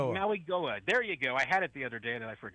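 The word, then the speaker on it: Mauigoa: know uh Francis and I knew how to pronounce his name. Magua Mwa Maui Maui Goa Maui Goa Maui Goa.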